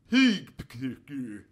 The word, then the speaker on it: hygge: This is how they suggest you pronounce the word. Hygge.